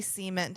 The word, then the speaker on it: cement: So you're the first person besides me to ever say cement to him. And I love you for it. We've just friends but you really need to pronounce the T at the end.